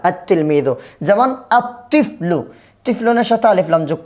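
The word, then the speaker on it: الطِّفْلُ: যেমন আত্তিফলু, তিফলুনের সাথে আলিফ লাম যোগ করলাম, কি হবে? আত্তিফলু। লেখার মধ্যে আসবে কিন্তু উচ্চারণে আসবে না।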